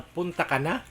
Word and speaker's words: Punta Cana: So ate magkano ba yung mga rate niyo rito sa punta ka na? Punta ka na po. Punta ka na. Ah hindi yung punta tapos ka na. Hindi. O yun yun pa yun daw yung pronunciation.